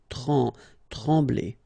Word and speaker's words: trembler: Trembler. Okay, same thing here. Nasal, E-M, okay? En. Trembler. Okay, no pronunciation of the M. Trembler.